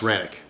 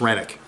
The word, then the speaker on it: Renwick: And I've heard it's pronounced Renwick, so I've been pronouncing it wrong for 2 weeks. It's Renwick.